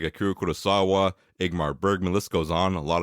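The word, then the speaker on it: Ingmar Bergman: the great the wonderful egmar Bergman did I say that right I don't know if I did let's check one more time it's igmar Bergman I said it right okay sorry but autum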